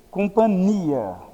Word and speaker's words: companhia: uma relação de companhia a companhia se escreve com nh nós se lê companilha Então qual é a